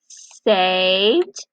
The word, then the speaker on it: saved: Saved and thanked. Alright, unsaved. What do you hear at the end of saved? D, d, right? You hear dippy duck.